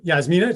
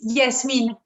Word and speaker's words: Yasmine: Yasmina, are we saying it right? It's Yasmine.